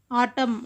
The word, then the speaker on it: autumn: Autumn అంటే మనం n silent, autumn. So silent letter is n.